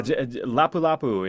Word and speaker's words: Lapu Lapu: Um, Lapu Lapu. Am I pronouncing that correctly? Yeah, Lapu Lapu is it it's insane, man.